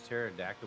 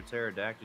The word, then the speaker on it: pterodactyl: Why don't you ever hear a pterodactyl use the bathroom? Because the pee is silent.